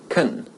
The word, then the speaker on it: can: in fluent everyday English when the modal auxiliary can is unstressed its pronunciation changes to cone I can speak four